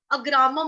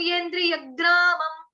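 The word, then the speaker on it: येन्द्रियग्रामम्: अब देखो मैं यग्रामम बोल रही हूँ, आप लोग अग्रामम मत सोचना कि अग्रामम बोल रही है, यग्रामम, सनीयम येन्द्रियग्रामम, ठीक।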